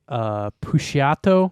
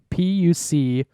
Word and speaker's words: Puciato: Last name Puciato, I think it's how it's pronounced. Puciato, and the album is called Child Soldier semicolon or colon.